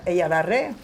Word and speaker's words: Eyalarre: Ella la re.